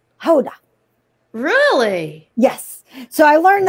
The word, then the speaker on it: Gouda: It's kind of like we say Gouda when it's actually Hoda.